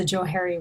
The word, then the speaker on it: Johari: dynamic if you will so I believe it's pronounced a Johari Window Joe Hart excuse me the Johari went